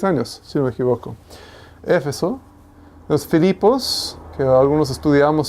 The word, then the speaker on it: Éfeso: Éfeso, con acento en la primera E. Éfeso, que también era un centro de enseñanza de Pablo durante 3 años, si no me equivoco, ¿cierto?